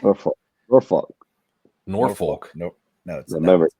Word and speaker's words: Norfolk: Virginia, Maryland, like they even said it's it's it's you don't pronounce the L or folk.